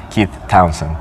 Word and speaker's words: Keith Townsend: I today have Keith Townsend.